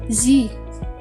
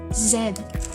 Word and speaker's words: Z: of letter c so in usa it is pronounced as z while in uk it is pronounced as zed zen it is because